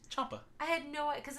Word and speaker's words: Ciampa: Ciampa's how that last name is pronounced. Ciampa.